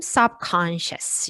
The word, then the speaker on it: subconscious: 다시 subconscious로 돌아가서 역시 꺽쇠 발음 subconscious 이렇게 여기가 오히려 슈하다.